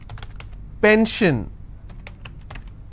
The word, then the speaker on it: pension: on gore s-i-o-n tension pension so how many syllables in tension two ten shin i will stress on ten if i have pension i will stress on pen so basically wherever i